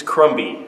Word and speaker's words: crumby: and crummy comedy it's crumby actually you're not pronouncing the b crumby is not a